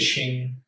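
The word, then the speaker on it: Qing: It's like I don't know, the Q sometimes is pronounced that way. Yeah, I think it's Shing. It's either the Q or the X that makes a sh sound.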